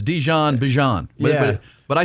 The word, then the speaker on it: Bijan: How you pronounce my name is Bjon for everybody that's that's out there. Um I know a lot of people say Bjon, but it's Bjon.